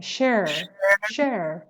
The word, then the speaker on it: share: share مثل hair مثل air share.